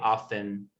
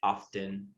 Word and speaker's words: often: point many native speakers will get lazy and they'll just say often like without the t but the correct way to say it is often often lee is